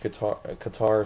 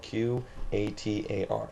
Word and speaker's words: Qatar: is, and it's spelled Qatar, Qatar, not Qatar like the dumbass from ESPN. It's not Qatar, Qatar, like guitar, but it's Qatar.